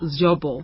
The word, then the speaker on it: Zvobwo: It's really close. It's good enough. I'd like to get it right. Zvobwo. Zvobwo. Yes, Zvobwo. that's it.